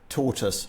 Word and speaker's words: tortoise: the English speaking World there are UK dialects that pronounce it tortoise and I guess there are Indian English dialects that will pronounce it tortoise but I think in Carol yep speaking RP and the joke becomes Tau us to rhyme with taught us um so yeah no